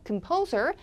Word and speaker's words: composer: 역시 앞에가 큼이 돼요. 컴포저 아니고요. composer.